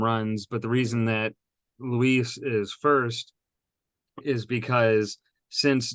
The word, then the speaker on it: Luis: kind of surprised that Louise Robert is oh God darn it sorry Louie Louise Luis Roberto Jr is the top seed